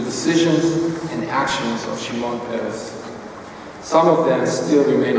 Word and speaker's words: Peres: Peres, not Perez, or other forms that I've heard.